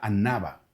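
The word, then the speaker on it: ענווה: Y y déjame decirte que la palabra hebrea para humildad a Antiguo Testamento eh tú la puedes ver y esta palabra se pronuncia anaba, ¿sí?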